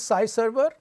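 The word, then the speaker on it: SciServer: This note is different from Sky server, which is spelled SKY. Size server is SCI. So, what is size server?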